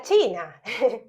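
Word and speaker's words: cina: Otra vez, ahí te conté lo del principio, que la C en rumano es una CH, y cuando vas a ver la palabra escrita Sina en rumano se pronuncia China, y se refiere a la cena.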